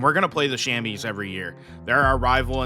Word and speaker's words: Chamois: You know, people are kind of wondering, it looks like Chamois. I've researched the heck out of it. It's Chamois is how you pronounce it.